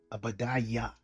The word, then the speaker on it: Obadiah: So Obadiah means servant of Yahweh. And the pronunciation of Obadiah would be Abadiah, Abadiah.